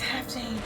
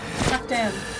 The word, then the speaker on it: Halfdan: It's Halfdan. Halfdan. I keep forgetting how to pronounce his name.